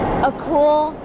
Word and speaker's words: Akul: so you know how to pronounce it and spell it? A cool is my first name and my last name is.